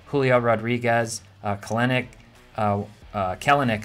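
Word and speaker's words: Kelenic: rodriguez clinic uh uh kalanick actually i believe is how it's pronounced i keep saying that wrong wander franco uh you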